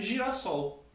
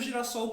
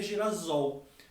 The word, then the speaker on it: girassol: de um S ali, só para manter a pronúncia, porque se eu juntasse sem hífen, colocasse um S só, ficaria girasol. Para manter a pronúncia original do substantivo sol, a gente dobra o S, acrescenta um novo S ali, mas não houve perda.